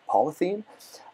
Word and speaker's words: polyethene: In fact, I think they pronounce it polyethene.